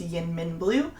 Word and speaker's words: YInMn Blue: is the new color it is pronounced yin min blue it's kind of got